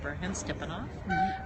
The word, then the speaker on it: Burhansstipanov: background sure um the the name is pronounced ban stepanov um it sounds like B in the hand stepping off everyone calls me